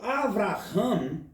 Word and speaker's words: Avraham: Quando eu digo Avraham, significa agora pai muito grande e elevado. Porque o HA, que se pronuncia Ra em hebraico, quer se dizer elevado.